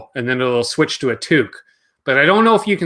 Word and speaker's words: toque: Toque is a lot easier to say. It's one syllable.